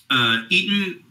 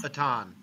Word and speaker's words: Eitan: Eaton, how do you say it again? Eaton? Eitan. Eitan.